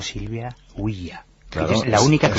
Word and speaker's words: Ouija: Pero bueno, sí, Huilla viene de Hui y ya, de la Ya, alemán. Sí, Claro.